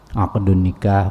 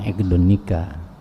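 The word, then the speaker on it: عقد النكاح: Aqdun nikah bukan iqdun nikah.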